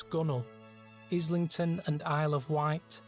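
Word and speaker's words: gunwale: stones stowed Solace gun what what's gun whale it's a dark abys or tunnel strewn with stones stowed Solace gunnel Islington and Isle of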